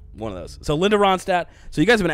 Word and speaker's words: Ronstadt: great life out here linda ronstadt i believe is how you say that last name there's like a dt it's cool it's definitely silent it definitely has to be there's at least one of those silent yeah one of